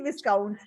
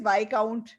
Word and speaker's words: viscount: और मैं पढ़ रही थी विस्काउंट, ओके। और मैंने सारी उम्र इसको विस्काउंट बोला है, बट वर्ड इज वाइकाउंट, ठीक है। और इसकी प्रोनाउंसिएशन थी वाइकाउंट।